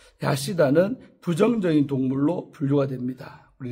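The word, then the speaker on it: חסידה: 모세의 율법에서 학은 우리 학이 이제 하시다라고 히브리어로 발음하는데 하시다는 부정적인 동물로 분류가 됩니다.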